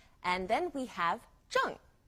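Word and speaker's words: zhèng: and then we have Jung Z h e n G junk now don't forget to pronounce the G on Jung it's Fourth tone as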